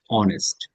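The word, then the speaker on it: honest: তখন is Zahid অনেস্ট কেউ আবার হ এর উচ্চারণ করবে না এটা হচ্ছে অ এর উচ্চারণ অনেস্ট অনেস্ট না অ সরেয়া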